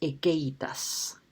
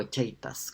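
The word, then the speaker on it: haecceitas: y no otro distinto, la ekeitas, o echeitas, como quieran traducirlo, o sea, pronunciarlo, ¿no?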